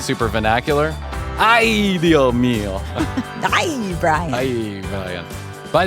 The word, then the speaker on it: Ay, Dios mío: Well, it's ay, Dios mío, but the S can be a little silent there if you want to get Okay. like super vernacular. Ay, Dios mío.